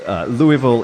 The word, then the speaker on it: Louisville: They have their logo is the 5 different pronunciations of Louisville. So Louisville is acceptable, but from out of town. So they were trying to welcome you to Kentucky by helping you out, Louisville.